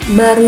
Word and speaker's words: baharu: Contoh kata baru. Nah, baru itu aslinya di kamus KBBI itu tulisan katanya baharu gitu. Ada H-nya di tengah. Tapi kenyataannya kita hanya menyebutkan baru saja H-nya enggak ada.